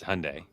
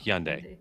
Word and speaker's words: Hyundai: it's h it's it's Hyundai or Hundai right like a little h before yeah the H pronounce